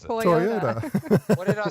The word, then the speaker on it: Toyota: Well, how do you pronounce it? Toyota. What did I say? Teayota.